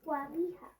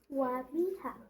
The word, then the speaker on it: Wamiha: Wamiha. Tell me again. Wamiha.